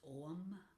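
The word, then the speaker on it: ogham: uh this is the om o g h a m pronounced om which is ironic but this is the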